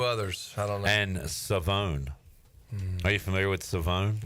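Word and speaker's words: Shavon: Uh Siobhan Revel East Carolina corner has told us all that we've been saying his name wrong. It's Savone. Really? It's not Siobhan. It is Savone.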